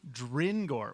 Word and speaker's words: Drengor: Like grin, but with a D. Dringor.